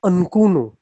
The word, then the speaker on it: Mchunu: It's almost like, it's not with the M, it's almost like Mchunu.